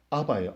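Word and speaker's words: אבא: 히브리어나 이게 아람어 지금 여기 헬라어 여기 발음도 아바예요. 아바.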